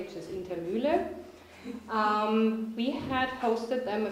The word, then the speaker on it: Indermuehle: I'm very excited that today I can introduce Rick Spencer and Dawn Indermuehle. Actually, I would want to pronounce it the German way, which is Indermuehle.